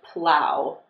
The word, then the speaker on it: plough: The fifth pronunciation is ow, just like in the word cow. This is found in the word plow.